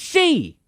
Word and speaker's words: Xi: I'm saying that the man's name is pronounced she. President 11's name is pronounced she. That doesn't make any sense. Why does he use Roman numerals for 11 if his name is pronounced she?